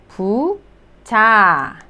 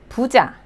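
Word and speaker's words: 부자: The second syllable, J sound and then a, so pu cha. Puja, meaning the rich, the wealthy and the rich people.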